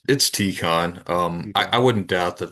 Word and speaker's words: Tikhon: Is it Tikhon or Tycon? How do you It's Tikhon. I Tikhon? wouldn't doubt that there's multiple ways to pronounce it, but it's I think I've heard